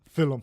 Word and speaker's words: Filum: this week Phil my somebody commented on YouTube Phil um haha and that's how we pronounce it that's what the